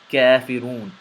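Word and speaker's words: كافرون: Kafirun.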